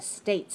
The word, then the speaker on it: states: Be careful. Don't say states. Okay? Watch my mouth. If I just say states, I'm not making a sound. I'm making eh. I want to say a.